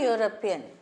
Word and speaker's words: European: He is a European because Euro, this Y pronunciation comes. It's a Y is a consonant, so he is a European.